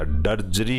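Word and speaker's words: drudgery: जैसा इन्होंने बताया कि आपका डोमेस्टिक ड्रजरी के अंदर डी साइलेंट रहता है दोस्तों, ये याद रखना, डी बोला ही नहीं जाता, ड्रजरी ही बोला जाता है इसको।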